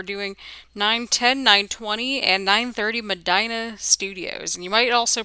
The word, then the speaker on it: Medina: We're doing 910, 920, and 930 Medina Studios. And you might also pronounce it as Medina. I pronounce it Medina because that was how it was pronounced in my home area of Northern Ohio.